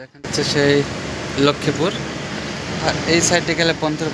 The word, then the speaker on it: লক্ষ্মীপুর: হ্যাঁ, এটাকে ইংরেজিতে বলে লক্ষ্মীপুর, আর এটা বাংলাতে উচ্চারণ হয় লক্ষ্মীপুর।